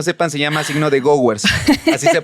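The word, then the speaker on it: Gowers: los que no sepan se llama signo de ghowers así se pronuncia y es no es un signo que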